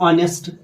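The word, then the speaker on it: honest: है site for Apple an ऑनेस्ट यहां पर क्या है एच साइलेंट है इसी तरह एन आवर यहां पर भी एच साइलेंट है एन नरे बल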